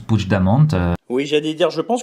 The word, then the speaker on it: Puigdemont: Ça s'écrit Puigdemont, mais ça se prononce Puigdemont.